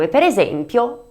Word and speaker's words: giraffa: Y para terminar con I tendremos el sonido , tales como GIRAFFA (jirafa), el animal con el cuello muy largo.